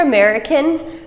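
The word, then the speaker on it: អាមេរិក: Knyom Mao, Bi And then if you're American, the way they pronounce that is Americ, Americ, Americ. Okay? I-A-H, I, and you can sort of do an M-A, me. It's shorter than that, but they'll understand what you're saying.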